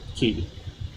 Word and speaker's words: Quay: Key. Ah, fuck. It's spelled like, Quay. yeah, like circular key Yeah. in Sydney.